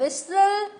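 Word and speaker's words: whistle: विस्टल, T silent.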